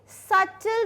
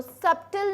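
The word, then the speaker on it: subtle: अब आता है जैसे कोई चीज़ हमें नॉर्मली करो, रिलैक्स होके करो, बहुत ही सटल तरीके से करो। सब्टिल नहीं होता, बी साइलेंट होता है।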